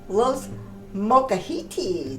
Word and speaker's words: Los Molcajetes: say it say it I can now say Lo mahiti there you go I am very proud of